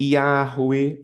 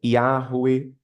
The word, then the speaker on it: Yahweh: Você pode chamá-lo de Yahvé, você pode chamá-lo de Yahweh. Aí, nesse caso, o W teria o som de U, né? Yahweh.